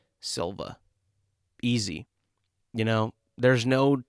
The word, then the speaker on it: Silva: I mean, it's just how you spell it is how you say it.